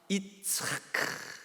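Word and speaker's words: יצחק: 이차크. 근데 비웃음도 발음을 어떻게 한다고요?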